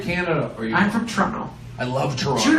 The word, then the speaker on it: Toronto: And that's how you know I'm from Toronto, because I say it Toronto. Toronto. It's Toronto. Americans say it Toronto. Toronto. But it's Toronto. We I- just do Trono.